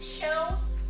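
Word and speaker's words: chutzpah: i do the best show put stuff and yes it sounds like it starts with an h but it's actually spelled with a c for those of you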